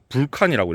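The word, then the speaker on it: Vulcan: 파이어 메이플 불칸이라고 읽어야 됩니다.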